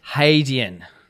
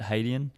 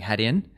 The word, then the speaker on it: Hadean: identifies to pronounce it haydeen yeah so hey not hat yeah it's not had hadeon a lot of us when we came up the name were saying had in and then so there's